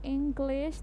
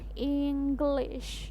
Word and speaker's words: English: nyebutin I am list atau English Tapi harusnya inglish yang benar Hi Ho Hai Nah